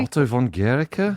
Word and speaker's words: Otto von Guericke: Otto von Guericke?